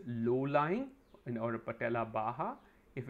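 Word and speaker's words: baja: we call it patellar baha it's spelt b b a.j a but it's pronounced bah k it's a Spanish word and the high riding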